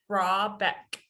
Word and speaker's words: Rahbeck: Rahbeck.